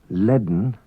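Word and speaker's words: lane: An unwritten D is pronounced before N in some Manx words. Bedden, woman. Leaden, full.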